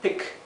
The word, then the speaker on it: pick: Recuerden que la E con la A se pronuncia como una I larga, I, mientras que la I sola, cuando está seguida de una doble consonante o de dos consonantes, como es el caso aquí, se pronuncia la I muy cortita y cerrada.